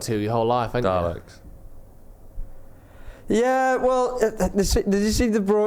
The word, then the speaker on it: Dalek: fucking Daleks.